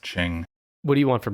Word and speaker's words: Qing: explains it it's the Qing Dynasty it's spelled it spelled q-u-i-n-g yeah but it's pronounced Ching what do you want